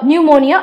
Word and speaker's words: pneumonia: right next one is pneumonia again this is another example of silent pee but it should be used at the beginning and it is P and EU mo ni a pneumonia right so your answer